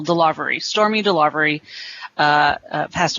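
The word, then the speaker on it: DeLarverie: delivery uh it's d-e-l-a-r-v-e-r-i-e she put the emphasis on that second syllable delivery stormy delivery uh uh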